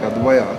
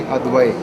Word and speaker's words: Advaiya: it's actually we go on pronouncing it like Advaya, Advaya. which is kind of simplistic. But then what the classic way of speaking it would be Advai.